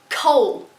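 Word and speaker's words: Chaol: I'm so bad at pronouncing things in this book, okay? Cole.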